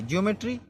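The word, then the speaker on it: geometry: है नंबर न देखते ओ का उच्चारण इजा या की धुनि में जैसे जमेट्री जमेट्री मतलब होता है रेखागणित जीई ओ एम ई टी आर वाई ज्योमेट्री मतलब रेखागणित ज्योमेट्री तो जो ई इजा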